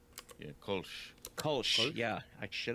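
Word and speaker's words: Kölsch: So is it pronounced Kosh? Yeah, Kolsch.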